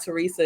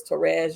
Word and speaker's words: Therese: Like, okay, so you meet Therese, y'all have dinner, you find out her name is not Teresa, it's Therese.